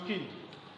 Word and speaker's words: quay: Okay, it is pronounced key. Pronounced key. Key, not quick. It's pronounced key.